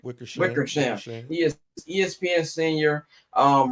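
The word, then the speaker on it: Wickersham: a book that's coming out from uh. I think that's how you pronounce my man's name. Wickers. Wickersam.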